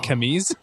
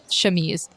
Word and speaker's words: chemise: Does she just have like an armored camise? Is that how you pronounce that? Chemise.